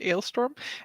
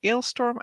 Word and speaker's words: Alestorm: pirate pirate metal alestorm so I guess we'll pronounce it alestorm as they and they did a